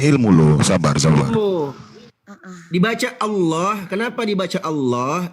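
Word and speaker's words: الله: Dibaca Allah. Kenapa dibaca Allah? Dibaca tafkhim. Allah dibaca tebal.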